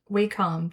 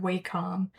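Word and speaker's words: Wacom: Uh, drawing this top part of this hat, and I quickly went and got my Waycom tablet.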